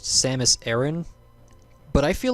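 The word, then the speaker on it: Aran: whatever according to official stuff samus name is pronounced samus aaron but i feel like aaron is too earthy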